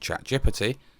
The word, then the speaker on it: ChatGPT: Here he's used ChatGPT, yes, that's how you pronounce it, which, as we know, is not